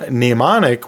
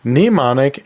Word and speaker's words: mnemonic: So yeah, they are somewhat similar, and they both have a silent letter at the beginning, so I think that's why they're so often confused, but they are two different terms.